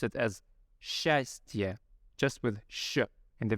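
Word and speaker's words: счастье: a steer right so but instead we would pronounce it as shastia just with Shu in the very beginning and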